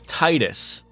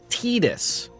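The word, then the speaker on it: Tidus: like everyone thinks in Final Fantasy 10 it's Titus but I've heard the Japanese people pronounce it tedis and when I said that in chat people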